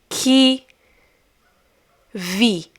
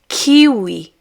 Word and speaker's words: kiwi: As for example, que vi, que vi, or you can also pronounce it as kiwi, kiwi, kiwi, kiwi.